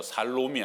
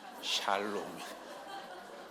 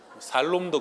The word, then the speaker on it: 샬롬: 발음 잘해야 돼요. 살롬이 아니고 샬롬이. 살롬도 괜찮습니다.